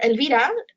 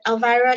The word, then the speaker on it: Elvira: is I prefer and Vita Spanish pronunciation but Alvira English pronunciation is also just fine I currently work as